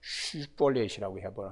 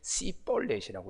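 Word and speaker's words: 십볼렛: 입을 이렇게 내밀면서 슈볼렛이라고 하라고 그러면 이 사람들이 이 발음을 잘 못하고 아주 강한 으름 씨볼렛이라고 이렇게 이제 발음을 하니까 이 사람들을 다 잡아서 죽였습니다.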